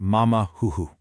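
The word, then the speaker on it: 马马虎虎: Take the Chinese expression pronounced mama huhu.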